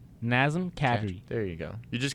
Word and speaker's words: Nazem Kadri: Kadri slow it down NASM Nazem Kadri there you go you just can't say you can't say NASM you have to say his name slowly NASM Thank You Andre